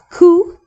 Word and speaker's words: cu: Ku is kind of like cuckoo for Cocoa Puffs.